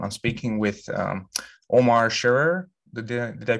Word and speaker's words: Sherrer: us today um i'm speaking with um omar sharer did i pronounce that correctly your last name that's right